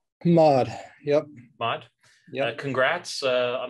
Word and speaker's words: MOD: I want to congratulate you on starting the MOD Institute. Are you pronouncing it M-O-D or are you pronouncing it MOD? MOD, yep.